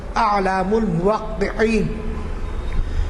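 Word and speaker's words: إعلام الموقعين: اور ابن القیم نے ایک کتاب لکھی ہے، اس کو مختلف لوگ مختلف طرح پڑھتے ہیں، لیکن میں نے جو تحقیق کی ہے اس کا صحیح تلفظ ہے اعلام الموقعین.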